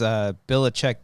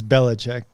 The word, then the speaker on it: Belichick: It's Belichick D's nuts.